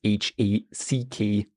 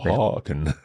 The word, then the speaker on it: hacken: If you think about the verb hacken, for example, to chop is H-A-C-K-E-N, and that's why we have the short hacken. And it's not haken.